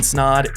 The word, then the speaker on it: Snod: my name is snod it rhymes with odd and you're listening and